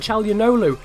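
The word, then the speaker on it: Çalhanoğlu: Now Hakan Calhanoglu, as I've now been told his name is pronounced, is going to give it out wide there to Roberts.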